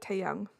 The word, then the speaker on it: Tae Hae Young: Tae Hae Young. Is that right? Tae Hae Young. Oh, the H is silent, so like Tae Young.